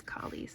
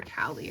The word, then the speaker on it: Kie: And here's Kie's section. You can pronounce her name Kie or Callie. I've not decided the final version.